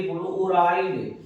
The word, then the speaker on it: fluoride: अगर स्टूडेंट हम कहीं या माइनस लिख दें तो बोलो इसको क्या पढ़ोगे, फ्लोराइड, फ्लोराइड।